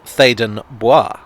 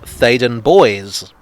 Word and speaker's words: Theydon Bois: in a rather french manner it should be pronounced as such thaden boi but i was informed that no it's actually pronounced faden boys and the announcer on the tube pronounces it